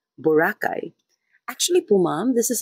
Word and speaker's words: Boracay: Miss Gorgeous is asking for my thoughts on Filipino saying Borakai the way foreigners mostly Americans say it with a first syllable stress instead of pronouncing it the way the locals do Bacay. Borakay.